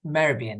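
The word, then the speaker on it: Mehrabian: absolutely right okay so albertian marabian marabian that's exactly how I should pronounce it so it was the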